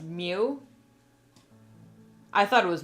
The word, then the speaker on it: Myuu: It's pronounced Mew. I thought it was Myuu for the longest time, but no, it's pronounced Mew.